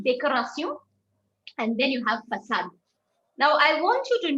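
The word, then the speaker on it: façade: right so so so this axon mark helps you to pronounce it as facade right for the same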